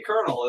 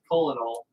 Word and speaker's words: colonel: out of there oh that's how you say kernel is colonel coronel colonel not colonel it's spelled colonel it is spelled cola like colonoscopy yeah but you're not putting a camera up there but that's cold like colonel because they say a colonel because they're dumb welcome to america where we